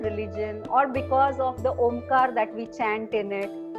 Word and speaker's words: Om: with religion and even chanting om you know that we break the syllables into a u and M and it has been